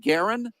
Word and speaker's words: Garron: Now you pronounce it Garron?